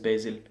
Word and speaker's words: Vasil: zaur and basil basil coach vasil they call him but his pronunciation is basil great great guy we'll